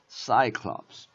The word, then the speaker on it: Cyclops: 그래서 Cyclops. 여기에 stress가 들어가거든. 여기에. 그래서 Cyclops. 이렇게 읽는데 여기가 이렇게 plural. 복수가 되잖아. 그러면 Cyclopes라고 이게 is라고 발음이 되면서 여기로다가 스트레스가 옮겨가. 여기로.